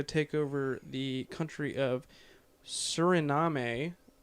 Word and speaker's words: Suriname: Also, Operation Red Dog inspired another coup where more clan members tried to take over the country of Suriname. Suriname.